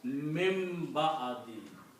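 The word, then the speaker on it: من بعد: And when ba and noon comes together, they come together, the sound of noon changes into sound of mim with a hunna. So you pronounce mim ba'adi. And that's the reason there's a little mim written here. Mim ba'adi.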